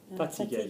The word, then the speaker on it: fatigué: What's the verb to tire? Fatigué. Fatigué. How do you say that tires me? Ça me fatigue.